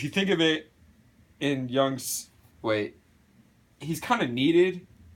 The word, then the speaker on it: Jung: Alright, now, according to Carl Jung, the J is silent, you consider the cat to be more of the trickster as an archetype.